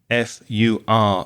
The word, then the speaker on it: fur: and dogs have fur F Ur be careful of the pronunciation fur the same sound as in learn or nurse or burn those kind of words so a coat of